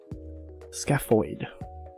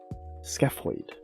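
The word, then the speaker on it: scaphoid: Oh, it's PH, so it's pronounced with an F. Scapoid. Scapoid.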